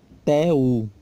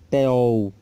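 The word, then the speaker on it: θεοῦ: Teu, tá? Teu, tá? Não é teol, como alguns pronunciam, mas teu, ok?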